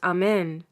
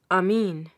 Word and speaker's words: Amen: Mohammedans also do that, although they do not pronounce the word as Amen, but Amin.